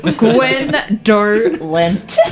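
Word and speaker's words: Gwhendoughlent: The T is silent.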